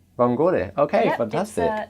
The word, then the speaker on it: vongole: so obviously from what we've learnt, the E is tended to be pronounced at the end. Vongole? Perfect. Is that actually Vongole? Vongole. Vongole.